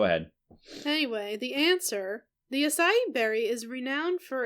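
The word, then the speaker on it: açaí: What is asai? And then there's a little pronunciation key that literally says, say it with me. Asai.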